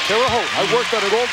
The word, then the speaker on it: Terre Haute: Terre Haute, that's how you say it, Terre Haute.